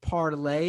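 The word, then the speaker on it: Parler: g from canada says isn't parlor pronounced parlay it's a french word meaning speak i believe they call it parlor but they say they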